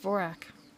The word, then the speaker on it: Dvorak: It's pronounced Vorak. Thanks. Thanks so much. That enlightened me. It's pronounced Vorak.